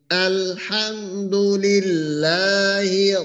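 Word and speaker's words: الحمد لله: আর রটা যেন একটু মোটা হয় আরো একবার আলহামদুলিল্লাহি রাব্বিল আলামিন আলহামদুলিল্লাহি ভাই হামজার ক্ষেত্রে সেটা হলো উচ্চারণ আপনার একটু শক্ত হবে সরার চাইতে আর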